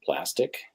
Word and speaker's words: Plastiq: There's a service called Plastic. It's spelled like plastique, and you can send checks, ACH or wire transfers.